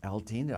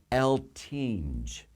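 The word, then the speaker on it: Eltinge: the old eltine Theater El Tina I keep mispronouncing his words El tinge the lth theater is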